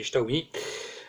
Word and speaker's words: Xiaomi: Bonjour à tous et bienvenue aujourd'hui pour le test de ce Xiaomi, ou Xiaomi, ça dépend comment vous le prononcez, mais en chinois c'est Xiaomi, le Redmi Note 5A.